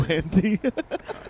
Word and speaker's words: Delahanty: Delahanty.